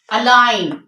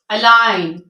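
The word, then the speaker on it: align: पहले होगा before N जी जब भी एन से पहले होगा तो हम क्या करेंगे उसको साइलेंट कर देंगे for example अलाइन अलाइन साइन साइन design design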